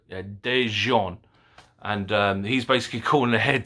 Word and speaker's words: Daejeon: See, it sounds French, but Daejeon.